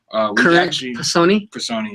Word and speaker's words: Personae: It's called Current Personi. Personi, yeah.